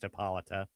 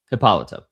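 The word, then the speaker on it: Hippolyta: They spell it Hippolite here, but like in subsequent appearances, she's just Hippolita. Hippolita.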